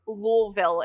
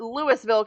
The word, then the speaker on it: Louisville: and yes believe it or not it is pronounced louville it's not Louisville Kentucky it's louville Kentucky um I got corrected